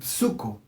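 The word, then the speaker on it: ψύχω: griego es de su cómo se dice su co pero se escribe p su co y se usa metafóricamente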